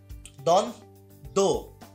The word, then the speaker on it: দ্বন্দ্ব: উচ্চারণটা এখানে কি হচ্ছে, উচ্চারণটা এখানে মূলত দন দো এরকম, তো দন হয়ে গেল, তাহলে এখানে বয়ের